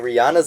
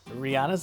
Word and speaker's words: Rihanna: Wait, so Rihanna's in London? Rihanna's in London?